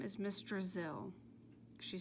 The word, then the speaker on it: Drizzle: "No, I said I wasn't from Brazil," said Miss Drizzle. "Have you ever been to Brazil?" asked Eric Fry. "No," explained Miss Drizzle. "It was just a little joke. Brazil rhymes with drizzle.